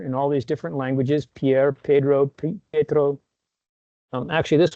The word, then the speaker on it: Pierre: Pierre, Pedro, Pedro. Um actually this one since I'm from South Dakota, this is pronounced Pier.